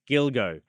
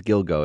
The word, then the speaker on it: Gilgo: the Gilgo Beach murders Gilgo I always mispronounce that word but it's Gilgo isn't it I think it is Gilgo and it sounds too